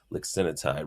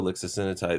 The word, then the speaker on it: lixisenatide: So I think it should be called lixisenatide. Why is it lixisenatide? It's kind of hard to pronounce.